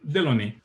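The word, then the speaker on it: Delaunay: derive this delineate variables in case you are wondering how to say this guy's name i was wondering that too so i asked the french friend of mine to which she replied so there you go dylan angulation variables are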